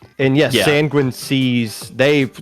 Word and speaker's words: Sanguine: And yes, Sanguine Seas, they said themselves it is pronounced like penguin.